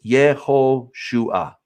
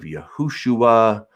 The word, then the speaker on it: Yehoshua: It's Yeh. Then there's an O right here, and then Shu-ah. So it's Yehoshua. Yehoshua. That's how it is. These alternate pronunciations of Yahushua or Yahusha, I don't know where these are coming from. They're strange. But the name is Yehoshua.